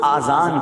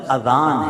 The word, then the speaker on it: اذان: نیکیاں کما سکتے ہیں۔ بعض لوگ آذان کہتے ہیں، یاد رہے پہلے اذان کہتے کس طرح ہے، اس کے تلفظ سے بچ لیں۔ آذان اذن کی جمع ہے، اذن کہتے کان کو، یہ آذان نہیں ہے، یہ لفظ اذان ہے، ٹھیک ہے۔ اور اذان